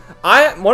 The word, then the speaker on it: Ann: One of my more viewed videos is, it's called like On, that's how you pronounce her name in Persona 5, On